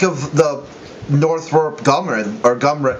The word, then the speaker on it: Northrop Grumman: So, what do you think of the Northrop Grumman, or Gumran? How do you say that? Northrop Grumman with it. Grumman.